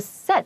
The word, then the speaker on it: said: 就是你可以说 easier said than done 就好。然后这里的几个字的发音都比较特别，比如说那个 said 它是一个短音不是 said。